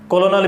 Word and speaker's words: colonel: किसी भी एंगल से ये कर्नल दिखाई नहीं देता, बट इट्स कर्नल, लेकिन हाँ ये कर्नल है। कोलोनल भी इसको हम कह सकते हैं, और इसमें कहीं आर नहीं है।